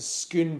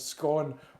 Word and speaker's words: Scone: got confused when I I went to schoon Palace and I said it's not to be pronounce scorn or a God forbid school